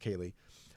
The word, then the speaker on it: Ceilidh: It's if you can see on the screen, I don't know if you can see how it's spelled Ceili, but it's pronounced Ceilidh.